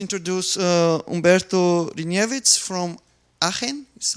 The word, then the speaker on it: Aachen: Introduce Umberto Hryniewicz from Aachen, is how it's pronounced, University.